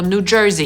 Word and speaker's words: New Jersey: W nazwie następnego stanu jest słowo, które my sobie spolszczamy do „dżersej”, jest to taka tkanina, ale po amerykańsku jego poprawna wymowa to New Jersey /nuː ˈdʒɝːzi/ przez /z/. I Amerykanie nawet potocznie mówią